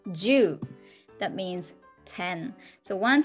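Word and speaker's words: 十: three and you see a cross which is pronounced ju that means ten so one two three or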